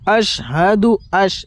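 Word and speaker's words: أشهد: وعلى عباد الله الصالحين আশহাদু এই জায়গায় আপনারা বড় শিন বের করেন, বড় শিন।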